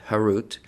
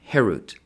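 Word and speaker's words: חירות: Do not pronounce it carved, harut, but rather freedom, herut, to show that they are freed from the angel of death.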